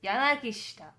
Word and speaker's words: Yanagishita: Yes, Yanagishita. Yanagishita. Yeah, because you don't pronounce the I when it's like she and something else, so...